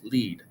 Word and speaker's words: Lied: Schubert is best known for the many German Lieder pronounced Lieder plural version of the word Lied, which is pronounced lead, or art songs.